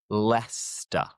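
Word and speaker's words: Leicester: And the tip here is to ignore the C E. What I mean by this is that it's kind of silent. We don't pronounce the c e. Let's let me show you what I'm on about. Let me show you what I'm talking about. So, we have leester.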